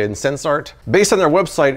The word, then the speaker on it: Sensarte: Half the people out there calling it Sensarte, some people say it in Sensart. Based on their website, it's supposedly a combination of the word sense and art, so I'm saying Sensart.